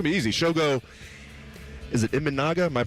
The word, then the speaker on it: Imanaga: Shogo, is it Imanaga? Am I pronouncing that right?